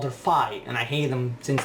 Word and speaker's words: Fi: I still say that the character from Skyward Sword was named Sfi, and in the Nintendo Direct they called her Fi, and I hate them since that day.